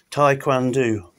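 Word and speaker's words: Taekwondo: Tai Kwan Do, that's how you say it.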